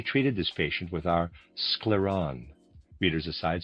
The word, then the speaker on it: Scleron: We mainly treated this patient with our scleron readers aside spelled s c l e r o n scleron and a reader aside.